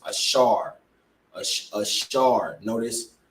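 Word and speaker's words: אשר: the Year great Uruguay which today they are pronounced ashar A Shard notice how he you know uh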